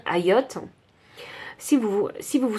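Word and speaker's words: Hayyoth: suis vraiment désolé hein ça s'écrit H a yy o th alors je vais dire AOT si vous si vous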